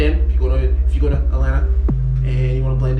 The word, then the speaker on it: Atlanta: if you go to atlanta and you want to blend in you cannot pronounce the t's it's a dodo okay